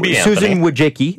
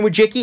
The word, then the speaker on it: Wojcicki: Her sister is Susan and she's the Susan Susan Wojcicki. I think it's how you say it. It's Polish CEO of YouTube and